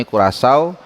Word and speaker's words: Curaçao: nasional kita berhasil mengalahkan Curaçao. Ini jadi cara bacanya ini Curaçao, negara di Kepulauan Karibia dengan berpenduduk 150.000 jiwa.